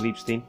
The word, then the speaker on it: Ripstein: El trabajo que, bueno, en 1970 hubo películas como El lugar sin límites, de Arturo Ripstein, o Ripstein, perdón, la pronunciación alemana. El lugar sin límites de Arturo Ripstein es la época en la que también hizo ¿cómo se llama esta película?